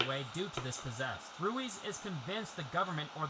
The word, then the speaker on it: Ruiz: my dumb American tongue the character's name r UI Z is pronounced rui throughout the movie I looked online and I guess there's like a million pronunciations for this particular name throughout the world from Spain say that but throughout my initial recording I pronounced it as ruise I'm sure there's other